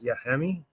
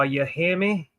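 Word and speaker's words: Yahmi: Yi. He's like, no. It's like, yo, you hear me?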